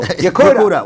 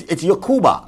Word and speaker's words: Yakuba: Yakuda, what's up? Yeah, how you doing? What's up? It's Yakuba, right? Yakuba, yeah. Yakuba. All right.